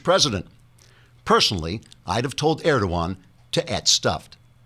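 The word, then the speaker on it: Erdoğan: personally I'd have told erdogan to at stuffed the g is silent trigger warning I'm Andrew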